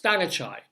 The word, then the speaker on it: Thangachai: It's only 3 syllables, Thangachai.